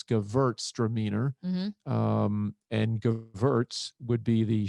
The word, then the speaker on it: Gewürztraminer: But the crazy thing is, it's spelled with a W, but in the old language, W's were pronounced with a V. So it's Gewürztraminer, and Gewürz would be